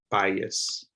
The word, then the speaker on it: bias: k chaos this word the i makes the i sound by bias bias so try this out again